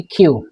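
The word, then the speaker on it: queue: ইন দা কিউ, এই যে এটার উচ্চারণ হচ্ছে কিউ।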